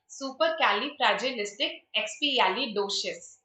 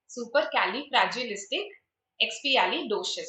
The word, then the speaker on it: supercalifragilisticexpialidocious: how we pronounce it: supercalifragilisticexpialidocious. Supercalifragilisticexpialidocious. All of these are basically super, cali, fragilistic, expialidocious. You have to basically pronounce all of these separately.